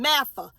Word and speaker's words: MAFGA: American families great again mafa the g is silent m a f g